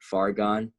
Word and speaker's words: Fargon: SoundCloud is Fargon, FARGON 3. Fargon 3. So it's like, it's far gone, but it's spelled like argon gas with an F, right?